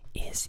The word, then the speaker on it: Is: And it is pronounced Is. I think it's kind of funny. I don't think she says the word in the album too, so it's very understandable to not know how to pronounce it, but it's pronounced Is. And Is refers to a